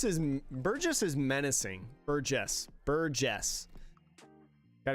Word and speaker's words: Burgess: good run though good try good try yeah burgus is Burgess is menacing Burgess Buress got to get my pronunciation guide back out Burgess is crazy it